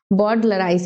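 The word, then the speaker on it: bowdlerize: यानी इस टर्म का जो प्रोनाउंसिएशन है वो यही है, बॉर्डलराइज।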